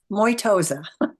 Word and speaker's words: Mosa: and matoy how do you say your last name Mosa Mosa I always wonder about